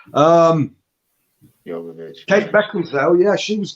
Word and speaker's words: Jovovich: I can never pronounce her surname. Jovovich. It's a Y, isn't it? Jovovich.